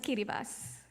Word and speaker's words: Kiribati: met recently from kiribas you might see it spelled as Kiribati but the proper pronunciation is kiribas and their islands are